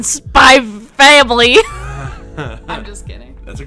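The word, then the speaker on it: Spy x Family: something about you know the x it doesn't get pronounced in spy family i'm just kidding that's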